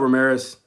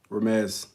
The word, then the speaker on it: Ramez: What's up, Ramirez? Ramez. I pronounced it wrong.